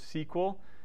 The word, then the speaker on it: SQL: language that's SQL right some people will pronounce this sequel if somebody pronounces it